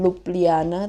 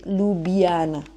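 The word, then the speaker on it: Ljubljana: Jadi, jadi eh ibu kotanya Slovenia itu kan emang agak unik ya namanya dan bacanya itu bukan Lupliana tapi Lubiana. Lubiana ya.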